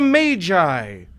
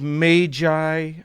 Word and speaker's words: Magi: Today I give you the gift of the Magi. And yes, I said Magi. I want to say Magi, but literally every dictionary and pronunciation guide I could find says that it's Magi.